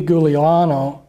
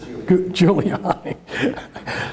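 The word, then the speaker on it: Giuliani: involved in all this Rudy guliano I'm not pronouncing the name I didn't pronounce I just juliani there you go he was the mayor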